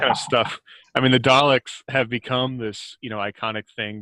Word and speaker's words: Dalek: In the English language, when you've got a vowel and a consonant, another vowel, the first vowel becomes long. In multisyllable words, yes. Yeah, that's what this is. Dalek.